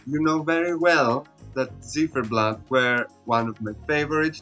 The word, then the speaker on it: Ziferblat: Ziferblat. I had previously reacted to all of the songs that competed at Vidbir 2025, and if you've seen this reaction, you know very well that Ziferblat were one of my favorites to represent Ukraine,